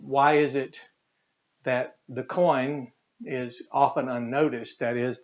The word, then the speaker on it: Koine: let's just put the coin here and i literally pronouncing it just as we do the word coin so there's our coin